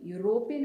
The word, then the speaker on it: European: Similarly, European is the pronunciation, but the starting sound வந்து Y வருது. Y which is a consonant. So consonant நால நம்ம இங்க ரெண்டு இடத்துல A போடுவோம்.